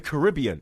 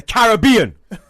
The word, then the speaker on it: Caribbean: And then you pronounce everything wrong, like the Caribbean. It's the Caribbean.